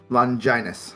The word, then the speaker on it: Longinus: It is the wrong pronunciation. Is it Longinus? Longinus, believe it or not.